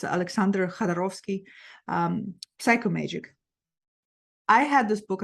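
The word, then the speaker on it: Jodorowsky: This book by Alejandro Jadorovsky, I should be able to pronounce his name because he from Russian descent, so it's Alexander Jadorovsky, Psychomagic.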